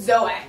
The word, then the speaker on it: Zoe: You can, which, by the way, Zoe, my church, it's spelled Zoe. But it's Zoe.